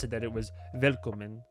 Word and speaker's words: Willkommen: As if you were like an American, but it's I knew before I even tried to pronounce it that it was Willkommen, like that type of deal.